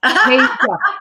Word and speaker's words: Tasia: Tasia.